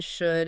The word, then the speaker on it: should: The L in should and would used to be pronounced back in the refined speech of the 1500s. They rhymed with gold and told, like the word shoulder. Okay. But then for whatever reason, the L naturally dropped out of pronunciation in the 1600s.